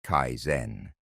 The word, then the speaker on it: kaizen: The second principle is called kaizen pronounced kaizen.